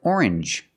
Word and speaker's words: orange: to strangers very good usually when you see NGE it makes the um sound like orange or exchange you make the n Sound not the nasal sound just um and the J like juice together Orange or exchange or